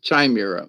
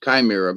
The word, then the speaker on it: chimera: of the chimera, and some people pronounce it chimera. It's CH, but it's pronounced chimera by those.